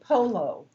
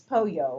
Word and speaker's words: pollo: a Mexican restaurant and I said I wanted polo. And the guy's looking at me and everybody at the table is laughing. Well, I wanted chicken and it's pollo or something like that.